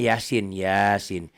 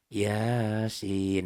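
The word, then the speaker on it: يس: Kayak bagaimana nih yang Yasin? Ya-nya di atas ya-nya 1 alif, 2 ketukan. Sin-nya 3 alif, 3 ketukan. Gitu cukup ya. 3 alif berarti 6 ketukannya kali 2. Yasin.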